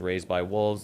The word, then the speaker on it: RZDxWLVS: We definitely have a TikTok, and we check all the messages as Raised by Wolves. It's spelled a little weird in case you're just listening to this and not watching it. It's RZDxWLVS.